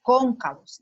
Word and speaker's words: cóncavos: Cóncavos lleva acento en la O con tilde y se escribe con V.